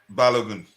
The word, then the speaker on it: Balogun: Hubbards um Lauren um bologna or whatever his name is pronounced as balogun I yeah I I'm